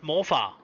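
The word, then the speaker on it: morfar: It's actually it's actually a name pronounced on itself and it's pronounced morpha.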